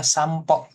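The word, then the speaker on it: 散歩: Ini P lagi ya kan. Sano. Jadinya bacanya sampo jalan-jalan oke kaki jalan jalan kaki gitu.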